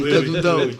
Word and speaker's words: Kadundao: J'ai bien prononcé cette fois-ci, Kadundao.